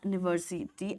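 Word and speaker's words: university: आता है उसके बाद यूनिवर्सिटी आसता है ये जो यू अल्फाबेट है हम लोग इसको यू की तरह प्रोनाउंस नहीं करते we don't say यूनिवर्सिटी वी से यूनिवर्सिटी क्योंकि यू आपका वाईओ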